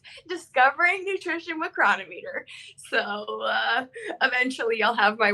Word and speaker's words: Cronometer: It's Cronometer or Cronometer, but those are the only two acceptable pronunciations. I have settled on Cronometer.